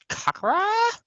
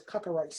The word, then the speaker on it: Cracker Ice: Kakara? Tricks. Keep saying the name wrong, but it's Cracker Ice.